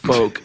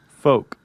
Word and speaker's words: folk: Well, a lot of times I'll say the L. In fact, up until about a year ago when someone wrote in and said, "You stupid," it's pronounced folk, like F-O-K-E. Folk.